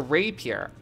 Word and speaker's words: rapier: legs i don't care rapier repair oh it's a rape here oh okay sorry i didn't know how to pronounce it man english major or mega lol i like repeat or appear a rapier sorry is a very